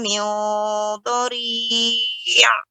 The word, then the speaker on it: min dhari': Laisa lahum ta'amun illa min dhari'. Ya, taib, bagus, sudah bagus ya Ummu, pengucapan nun sukun bertemu dengan dhad ini ikhfa. Ikhfa pada huruf isti'la tebal ya.